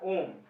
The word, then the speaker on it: ohm: जैसे कि कोई गोला बना दो, इसको मिटा दो, दो लाइन ऐसे कर दे, या फिर सी, ठीक है, प्रोनाउंसिएशन OHM, ओम।